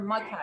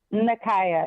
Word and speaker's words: Nakaya: Nakaya or Makaya? It's Nakaya. It looks like Nakia, Nakia, but it's pronounced Nakaya.